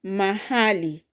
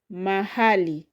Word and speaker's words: mahali: Then the fourth word here in Kiswahili is mahali. Mahali. Mahali has three syllables. So the second from the end is her.